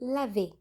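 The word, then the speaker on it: לב: Há outro termo hebraico para coração, pronunciado lavê, que é a palavra hebraica típica para coração no Antigo Testamento, como lemos em Lamentações, capítulo 3, 33.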